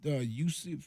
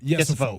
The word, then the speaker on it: Yesifo: But again, Waka was going against, how we say his name again? Yusuf? No. Yesifo. Yes, Yesifo. I don't see it in front of me.